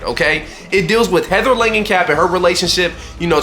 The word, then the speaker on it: Langenkamp: Wes Craven's New Nightmare sees Heather Langenkamp Heather Langenkamp? Yeah. I I may be saying her name wrong. It sees Heather Yeah, I'm definitely saying her name wrong. Heather Langenkamp there we go.